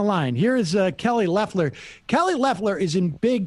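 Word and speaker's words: Loeffler: saw this man it blew up yesterday kelly lefler and that is how you say her name oh i've been saying laughter for a long time not that i care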